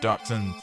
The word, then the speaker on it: dachshund: bit and I like dachshunds though we need elves not - hounds dotson it's German you got a hard sound in there don't know where -